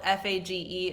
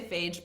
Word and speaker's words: Fage: The 0% Fage, it's spelled F-A-G-E. If I'm saying it wrong, I don't know. Some people say phage, but I know that's wrong.